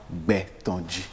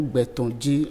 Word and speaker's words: Gbetondji: Donc, nous allons parler aujourd'hui du prénom Gbetonji. On peut décomposer Gbetonji en 2 syllabes. Ça fait Gbetonji.